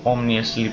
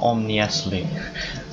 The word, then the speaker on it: ominously: Here's the ominously placed cheers. I said ominously. That's not a word. I don't know how to say it. Ominously. There we go. That's what it is. Ominously. Not omniously. Omniously.